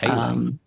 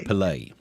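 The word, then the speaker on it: Pelé: Pele? Yeah. Pele? How do you say his name? I don't say it like it's an online app for exchanging money.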